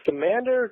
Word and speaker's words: Scamander: Newt is a salamander, and Scamander kind of rhymes with salamander.